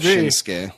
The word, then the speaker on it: Shinsuke: I think that they were probably just mispronouncing it back then. I mean, he calls himself Shinsuke.